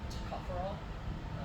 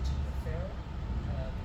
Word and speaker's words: tocopherol: It's called tocopherol. Some people pronounce it tocopherol. Either way is correct, and either way is also wrong, so that's fine.